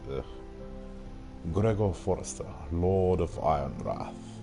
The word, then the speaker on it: Ironrath: Gregor Forrester, Lord of Ironwrath. Without a W. The W is silent.